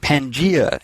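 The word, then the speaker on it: Pangaea: But Pangea is the only correct pronunciation.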